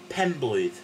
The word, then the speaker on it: Penblwydd: So, start off with pen, thing you're right with, pen, yeah? And then blwydd. Remember the double D thing at the end? If you've forgotten how to pronounce that, go back to lesson one, where I go through the alphabet, and it's th, yeah?